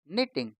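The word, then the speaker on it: knitting: के एन I double T आई एन जी निटिंग के एन ओ B knob के एन ओ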